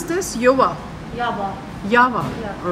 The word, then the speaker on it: Yava: So how you pronounce this? Yava. Yava.